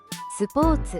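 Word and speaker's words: スポーツ: 스포츠. 스포츠. 스포워츠라고 발음합니다. 뽀가 반타금이며 오는 장음으로 발음됩니다. 츠 발음도 한국어의 츠보다 좀 더 짧고 경쾌하게 발음하는 것이 중요합니다.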